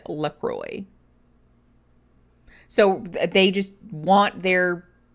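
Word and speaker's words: LaCroix: Um the funny thing is that Lacroy, like the actual French pronunciation of those words is Laqua. Uh except that the company owner has openly said that they do not want it pronounced that way. That like they pronounce it Lacroy.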